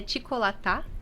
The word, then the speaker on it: Çikolata: Isso, na verdade, Cicolata seria Ticolatá, que é chocolate em turco, que é descendência da nossa família, né?